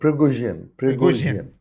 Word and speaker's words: Prigozhin: Prigozhin, is that how they say it? No, Prigozhin.